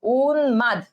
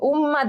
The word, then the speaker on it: উন্মাদ: Already কমেন্টে তোমরা কিন্তু লেখা শুরু করছো উন্মাদ। আচ্ছা, উম্মাদ না, উন্মাদ, উন্মাদ, ঠিক আছে? উন্মাদ। অর্থাৎ এই ময়ের উচ্চারণটা, ময়ের উচ্চারণটা এখানে যে বর্ণটা সেটা কিন্তু থেকেই যাবে, মাদ, উন্মাদ, ঠিক আছে?